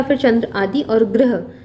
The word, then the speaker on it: ग्रह: फिर चंद्र आदि, और ग्रह, गृह अगर हो जाए तो गृह मतलब घर होता है। थोड़ा सा उच्चारण में परिवर्तन है, ये इसको उच्चारित करते हैं ग्रह, यानी कि सूर्य चंद्रमा ये सारे ग्रह होते हैं।